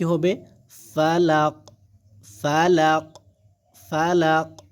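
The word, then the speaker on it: فلق: তাহলে এখানে কি হবে ফালাক ফালাক ফালাক ফা জবর ফা লাম কুফ জবর লাক এরকম ভাবে ফালাক এরকম উচ্চারণ হবে কিন্তু ঠিক আছে তাহলে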